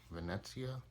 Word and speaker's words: Venezia: Buzz back here for a match review against Venezia. That's how you pronounce them.